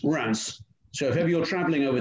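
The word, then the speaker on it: Reims: monte the i can and it's pronounced rats so if you're traveling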